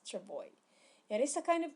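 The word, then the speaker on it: travois: chavoi by the way s is not pronounced in this word so we read the word as travoy it is a kind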